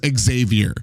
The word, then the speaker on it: Xavier: In English, it is Xavier. Like when like for X-Men, you don't say Professor Charles Xavier. You say Professor Charles Xavier, not Xavier.